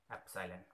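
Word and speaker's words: epsilon: क्या यूज करेंगे, एप्सिलॉन, pronounce करेंगे इसे एप्सिलॉन।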